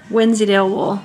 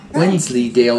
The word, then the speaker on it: Wensleydale: in there and then this is Wednesday wool Wensleydale you have to redo your video because you mispronounced it which is super fluffy